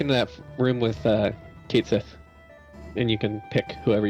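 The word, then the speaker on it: Cait Sith: thing there because it's based off of like a Gaelic myth about like a cat and it's pronounced catchy but no one [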